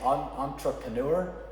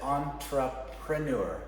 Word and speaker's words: entrepreneur: some people will say entrepreneur but it's entrepreneur entrepreneur it's a very light quiet r entrepreneur so people don't